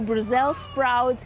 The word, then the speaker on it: Brussels sprouts: I was told not to say sprouts, the S is silent. So Brussels sprouts and different types of cabbages on this particular stand.